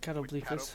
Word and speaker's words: catoblepas: That's the actual pronunciation. Catoblepas.